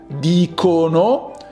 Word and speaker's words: dicono: person, io dico, And for the third plural person, dicono, the C is hard.